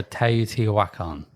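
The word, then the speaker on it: Teotihuacan: I had to do it cuz I just couldn't pronounce the game and uh Yeah. Do it for us again. So, Teot Wakan.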